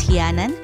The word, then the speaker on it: Gianan: Here in Catanduanes, Gianan is pronounced as Hianan.